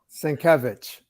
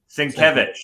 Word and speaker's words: Sienkiewicz: Sienkiewicz. Sienkiewicz.